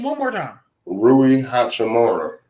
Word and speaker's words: Rui Hachimura: Rui Hachimura. That's how you say his name.